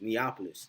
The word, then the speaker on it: Neapolis: now neopolis uh neopolis i just said neopolis neopolis is how you say it neapolis um actually